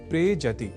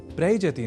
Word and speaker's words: प्रेजति: दोनों के मेल से शब्द बनता है प्रेजति। प्रयजति नहीं।